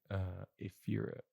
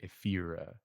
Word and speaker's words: Ephyra: I want to say Ephira, but I had written Ephire. Epure. Epure. But you wouldn't put the stress on the last syllable in English. Epure. I think I would say more like Ephira.